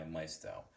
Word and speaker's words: Maisto: In today's video, I'll be unboxing and reviewing this 124th scale 1966 Chevrolet Chavevel SS 396 made by Mestto or Meto depending on how you like to pronounce their name.